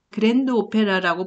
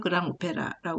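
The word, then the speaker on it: grand opéra: 써갖고 볼거리, 그랑 오페라, 그랜드 오페라라고 보통 그러는데 대규모 오페라라는 거죠. 이게 나중에 이제 이태리 오페라도 영향을 주게 돼요. 그래서 이러한 장대함, 그래서 프랑스 발음으로 그랑 오페라라고 그러는데 이런 장르를 만들고요.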